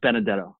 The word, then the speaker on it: Benedetto: won't tell anybody yeah my last name is pronounced Benedetto it's okay and I meant